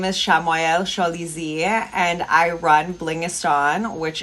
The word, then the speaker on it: Shamayel Shalizi: So my name is, I'll pronounce it the correct way. My name is Shamayel Shalizi, and I run Blingistan, which is a jewelry and apparel line.